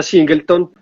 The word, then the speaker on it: Singleton: sola barrica o un solo tonel y se pronuncia singleton y uno como le decíamos cables cosas como